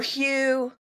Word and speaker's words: Hu: Sometimes it's pronounced who. Now we're getting in the weeds. Do you want to go into all the weeds of it? Let's go. All right, great. So, who or hue is this vibrational frequency